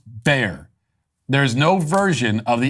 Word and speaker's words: Bexar: Matthew says, Bexar County is pronounced Bear County for future reference.